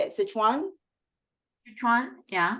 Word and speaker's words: Sichuan: way to say shishan is you say it Sichuan Chan yeah sichan sichan s i c h u a an I've never pronounced it correctly in my life and now